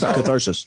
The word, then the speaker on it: Catharsis: That's Catharsis. That one's at least more than 2 syllables. Yeah, it's a whopping 3.